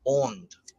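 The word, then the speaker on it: önd: it's the Divine breath it's o-n-d uh there's two dots above the O and so it has the kind of the Au sound like in the word caught so it's on um from the aunt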